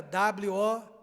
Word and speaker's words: woke: Soletra W-O-K-E, mas se pronuncia woke.